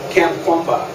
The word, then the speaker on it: Kamkwamba: William, it's Kamkwamba. Please spell it.